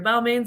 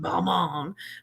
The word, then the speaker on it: Balmain: Balmain's like, well, it's pronounced Balmain, but we're American. We say Balmain.